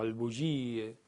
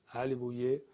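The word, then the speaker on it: Āl-e Buyeh: Por ejemplo, en el gobierno de Ali Bouyeh, o al-Bouye, las pronunciaciones son diversas, pero en persa es Ali Bouyeh, y Ali viene de la familia, Bouyeh es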